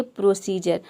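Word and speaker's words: procedure: यहाँ पे हम डी को क्या प्रोनाउंस कर रहे हैं? ज प्रोनाउंस कर रहे हैं। डी को ऐसे हम ड प्रोनाउंस करते हैं, लेकिन यहाँ पे देख सकते हैं कि डी को हम ड प्रोनाउंस नहीं कर रहे हैं। यहाँ पे डी का साउंड क्या आ रहा है? ज आ रहा है।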